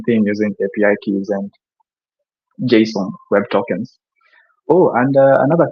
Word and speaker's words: JSON: And believe it or not, you're actually supposed to pronounce it as JSON. So put a particular French articulation to it, and that's the pronunciation of JSON.